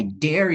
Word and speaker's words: dare: Kalau misalnya berani I dare you, gitu. Aku nantang kamu, berani enggak loh gitu. Ini pakai D biasa. Dare.